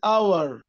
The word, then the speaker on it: hour: كلمة hour hour hour silent T.